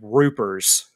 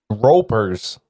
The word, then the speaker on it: Roopers: They're called Roopers. R-O-P-E-R. Ropers. It's pronounced Roopers because I thought Ropers too until I looked at this character sheet and it has an abbreviation for it.